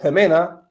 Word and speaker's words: Ximena: the chat so with Ximena uh with with this name here this common name you pronounce the X with uh with lahota with the eight with the J cell and for others who